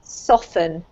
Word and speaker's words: soften: Soften. Ah, okay. Soften. Yes, well done. As if it had a double F rather than a T.